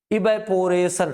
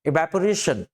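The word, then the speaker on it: evaporation: जैसे ये जो आप देख रहे हैं इवेपोरेशन, ऐसे नहीं, दरअसल सही जो इसका उच्चारण होगा वो होगा इवेपोरेशन।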